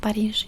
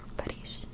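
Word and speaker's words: Париж: do by the way it's pronounced parish in russian parish so we need to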